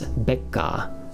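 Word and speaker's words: ベッカー: Anyway, we've also lastly got number 4, Mr. Becker, or pronounced in Japanese, Becca, and he is from, we just went over this today, Deutsch, Germany.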